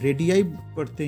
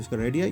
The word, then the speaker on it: radii: देखो, RADII, रेडियाई पढ़ते हैं इसको, प्रोनाउंसिएशन होता है इसका रेडियाई, ये होता है रेडियस का प्लूरल।